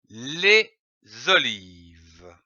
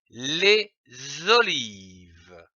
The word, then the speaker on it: olives: fin de ce mot les olives ici attention à olive on ne prononce pas le S finale passons à la lecture